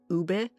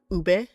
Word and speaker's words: ube: I think Filipino food is very underrated but it's starting to get more attention lately especially with ube. And yes it's pronounced ube.